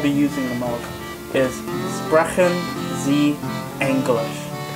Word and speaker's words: Sprechen Sie Englisch: using the most is Sprechen Sie Englisch. Sprachen Sie English. That's a very interesting way of pronouncing it, but...